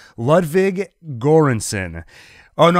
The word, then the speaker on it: Göransson: saying his name Ludwig göransson oh no I wrote down the pronunciation here Joran son I believe awesome score it has